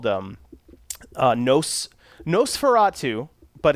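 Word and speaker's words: NOS4A2: I'm working on a show called them noce Nosferatu but it's not spelled like you would think I think it's a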